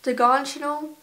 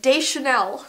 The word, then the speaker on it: Deschanel: Oh, this is Zoe Deganchanel. What's her last name? Oh my gosh. Why don't I know this? What's her name, Zoe? Like, I'm so off on the pronunciation right now. Zoe Deschanel.